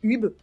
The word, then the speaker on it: Ube: Mais du coup, dans sa Ube Collection ou Ubi Collection, bref, pour moi, c'est Ube. Voilà, ça s'écrit U-B-E.